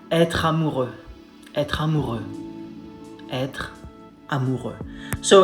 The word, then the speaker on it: amoureux: Again, comes from the throat, like you're trying to spit something out, something stuck here, you're like amoureux. Not amoureux, not amoureux, amoureux, amoureux.